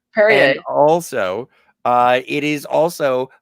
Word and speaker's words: Perrier: It's pronounced Perrier. Perrier.